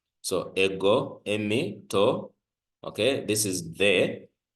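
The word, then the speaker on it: εἰμί: But take note that this is a diphthong. Remember, we said diphthongs are those two vowels of which the last vowel is either an iota or upsilon. So this is a diphthong, which means we pronounce it as a single letter. And then this is mu, which is our M. And then this is iota, which is our E. So this is emi, emi.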